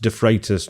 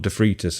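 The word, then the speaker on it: De Freitas: But I emphasize that and and actually we all know the name is pronounced defratus, not defrus, I think, because that's how it's been pronounced in the first two books.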